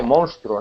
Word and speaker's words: monstruo: Y luego hay una palabra que creo que era monstruo, creo que era, que no las pronunciaba muy bien, se dice monstruo, ¿no?